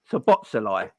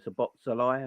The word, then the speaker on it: Szoboszlai: I'm going with the silent S, and and there's another Z in it. So Szoboszlai or whatever.